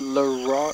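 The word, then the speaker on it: Leroi: I think it's Leroy. It's spelled L-E-R-O-I, but I think it's pronounced more with a W instead of an R.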